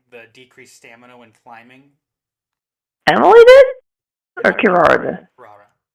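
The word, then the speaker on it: Emilie: How do they pronounce it in-game? It is Emily.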